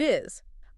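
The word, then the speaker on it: 愛: And the Japanese word for love is I. spelled A-I. AI. Pronounced I.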